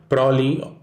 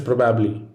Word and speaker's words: probably: It is not probably or probably, it is probably. Haplology is the dropping of one of two identical syllables, such as the ob and the ab in this word, usually the result of fast speech.